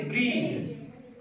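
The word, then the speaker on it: bridge: है साइलेंट रहता है यानी हम लोग को डी को नहीं पढ़ना जाता है ठीक है ना जैसे यहां देखो बी आर ब्र ई ज क्या पढ़ेंगे ब्रीज इसको ब्रीड ज नहीं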